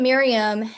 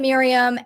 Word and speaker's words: Maryam: i'm sorry um but yeah it sounds like mayhem yeah sometimes she's made